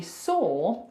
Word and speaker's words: saw: it's annoying so actually saw feels like it should rhyme with door right it's the same sound so door look at